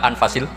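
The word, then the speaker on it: أنفس: saya saja di sini ditulis anfusil kutub kalau saya baca anfasil kutub karena maknanya kitab ter baik Kalau kitab terbaik bacanya bukan anfus tapi apa anfas ya nanti kamu debat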